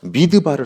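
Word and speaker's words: מדבר: 이름으로 축복합니다 아멘 여러분들 광야를 히브리말로 잘 잘 들으세요 미드바르 아고 합니다 미드바르 그리고 하나님 말씀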